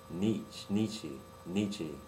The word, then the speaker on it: Nietzsche: As extraordinary individuals, and this is from Fred Frederick Nietzsche, I believe is how it's pronounced.